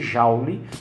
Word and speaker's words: joule: Se escreve joule, né? Se pronuncia joule, que é referente ao